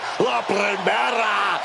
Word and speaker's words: La Primera: La Primera, Stephanie McCare. You need to roll your R's a little bit on that, man. La Primera.